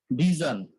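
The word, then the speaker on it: vision: হয় যেমন হচ্ছে আমরা ভিশন বলি বাংলায় ভিশন বললে ঠিক আছে কিন্তু যখন আমরা ইংলিশে বলবো তখন হচ্ছে ভিজন কি ভিজন তারপর হচ্ছে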